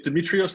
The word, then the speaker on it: Demetrios: bit nerdy I think is Demetrios the correct pronunciation of your name yes that's correct so you're a little